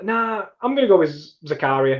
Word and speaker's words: Zakaria: i'm gonna go with zakaria it's just easy i know he's probably pronounced zachariah but i'm gonna go zakaria rolls off the tongue a little bit better